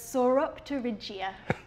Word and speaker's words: Sauropterygia: different species in this group, and it's called Sauropterygia. Wait, what? Can you say that one more time? Yeah, I'll say it slowly. So it's Sauropterygia. Oh, wow. Okay, so we have the pronunciation that's on the bottom of the screen